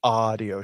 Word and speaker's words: Ahdio: When I'm saying it like that, it's spelled AHDIO. So it's audio shows.